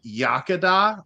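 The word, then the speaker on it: Iechyd Da: in Elkart Indiana we've got a brewery called yakada uh I can say it don't ask me to spell it yakada is really good I've been there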